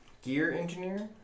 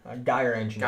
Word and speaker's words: Gyre Engineer: And I cannot pronounce this word. Gear Engineer? Gyre Engineer.